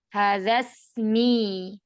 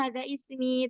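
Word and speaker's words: هذا اسمي: Iya, hadza ismi tapi tidak dibacanya hadza ismi tapi hadzasmi.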